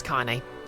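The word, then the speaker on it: Kainé: will remember how to pronounce her name it's Kane Kane Kane Kane Kane not to be confused with can be you mean you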